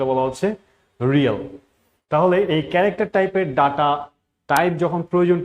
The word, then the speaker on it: char: যদি আমরা উচ্চারণ করবো ক্যারেক্টার, বাট লিখবো CHAR এবং তারপরে একটা ভেরিয়েবল, তাহলে এটাকে বলা হচ্ছে ডাটা টাইপ CHAR।